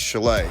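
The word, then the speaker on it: Shelly: wilder told his manager shelley finkel pronounced chalet this is all becoming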